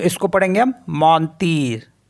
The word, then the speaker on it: mentir: MENTIR, तो इसको पढ़ेंगे हम मौनतीर, तो जो लास्ट का जो आर होता है उसको पढ़ते हैं हम, तो इसलिए इसको पढ़ेंगे मौनतीर, तो मौनतीर मिस होता है टू लाई।